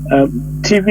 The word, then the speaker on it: Tiv: Also, TV is spelled TIV, but they call TV.